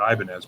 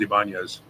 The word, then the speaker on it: Ibanez: So what's weird is that people don't pronounce it properly, that they still pronounce it Ibanez, but it's the proper is Ibanez.